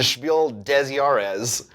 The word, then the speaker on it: Spiel des Jahres: Said, just to put you ahead of all other English-speaking board game reviewers, the S of the word des, D-E-S, in Spiel des Jahres is pronounced.